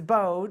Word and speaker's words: Baadh: studio we have Valerie bode I said it wrong before and do you do Valerie bode garret or just Valerie boat anyway okay all right but it's bode and so I wanted to